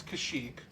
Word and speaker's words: Kashyyyk: headed off to kashyyyk however you want to pronounce it it's kashyyyk but you know you're making good progress pal